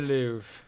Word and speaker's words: Louvre: The Louvre. Is that how you say it? It is the Louvre.